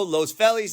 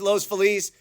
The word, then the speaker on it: Los Feliz: Rancho Los FIS so in conclusion I know my pronunciation is terrible and I know you have a certain way of pronouncing San Pedro San Pedro Los felis Los Feliz and we haven't even begun to talk about Los aneles or Los angales as they used to call